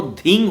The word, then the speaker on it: धींग: मंत्र में जो अंतिम शब्द है वो धींग होगा। धींग बंगला में ध्वय दीर्घी अनुक्षर, जो बंगला में वीडियो